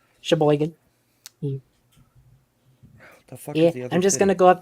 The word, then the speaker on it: Sheboygan: a town in Wisconsin how do you think you say this shaver Sheboygan everybody knows Sheboygan it's it's um Sheboygan I'm just gonna go